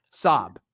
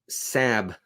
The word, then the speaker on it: Saab: How do you pronounce that? Sob. Sab.